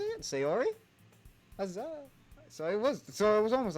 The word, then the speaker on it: Sayori: Sayori?